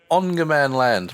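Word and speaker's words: Ångermanland: land though i think with the a with a little circle above it it's pronounced like an o i'm gonna go with ongerman land my swedish about as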